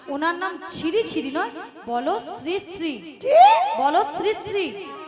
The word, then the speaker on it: শ্রীশ্রী: আরে মাসি ওনার নাম ছিড়ি নয় বল শ্রীশ্রী বল শ্রীশ্রী আমি কি সিড়ি